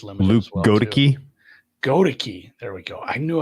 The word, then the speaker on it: Goedeke: Goedeke.